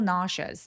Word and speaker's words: nauseous: 발음할 때 sh가 내 눈엔 보이지 않지만 발음기호에는 슈라고 발음이 되어 있어요. 그래서 아니라 naous 더 길게 naous naous라고 발음하시면 정확합니다.